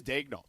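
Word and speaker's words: Daigneault: The scouting report, by the way, great job pronouncing his name properly. Yeah, it is Dagel.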